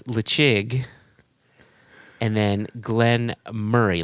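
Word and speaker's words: Glen Moray: So it's Lechig, and then Glenn Murray. Like, think of your best friend Murray, or Jason, in your case, your brother Murray.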